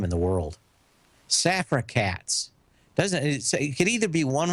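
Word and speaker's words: Safra Catz: Safra Katz. It could either be one word or two words. Safra Katz. It's Safra Katz. You got to give a big pause.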